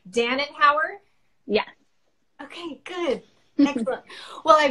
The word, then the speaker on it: Danenhauer: good so let me make sure that I'm pronouncing your last name correctly Dannan power yeah okay good well I really appreciate you